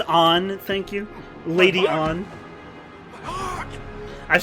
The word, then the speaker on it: Ann: Her name is Anne. Anne Shepard. Hey, the same name as the Persona 5 character. Nice. This actually coincides better than I thought. Actually, it's pronounced On.